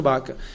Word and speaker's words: Vaca: assessores do Pedro baca Pedro vaca mas pronuncia Pedro baca e estamos organizando enviamos